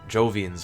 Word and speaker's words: Jovians: Maybe there's a massive Fallen organization somewhere out with the Jovians or Hovians, however you want to pronounce it. I still pronounce it Hovians.